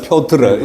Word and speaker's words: 표트르: 포트르 되지. 표도르. 네? 네, 표트르. 이 발음이, 표트르.